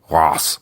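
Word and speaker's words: Reims: cathedral at, and I'm I'm just going to say it like this, Reams. Don't at me about the pronunciation. I know it's like Ros or something, but I can't make my mouth say it, so don't make me say it.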